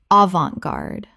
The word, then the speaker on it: avant-garde: Avant-garde. 3 syllables with the T silent and the an making an on sound.